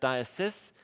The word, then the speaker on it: diocese: it doesn't look like it but this is pronounced diocese throw an e on the end it becomes